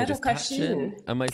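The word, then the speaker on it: Cachín: How do I say Pedro Cachin? Am I saying it right? Pedro Cachin.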